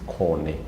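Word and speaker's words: kone: Cone and corn. It is basically corn and cone. In English, we pronounce it as corn, but in the Luo, it is cone.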